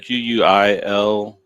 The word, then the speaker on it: Quileute: It's Quileute.